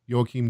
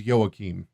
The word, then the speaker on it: Joachim: Joachim Jeremias is that he say his name yo Keem Jeremias anyway um he wrote a standard book I think he's Jura it's probably silent Jay but that's alright well Petri says yo Keem yeah that's right here's